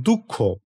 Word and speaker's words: দুঃখ: তাহলে দ এবং বিসর্গ যখন উচ্চারণ হবে তখন একটি হ ধ্বনির মত বিসর্গটা উচ্চারিত হয়।